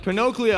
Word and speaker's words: Pinocchio: Is it Pinocchio? It's correct. Pinocchio.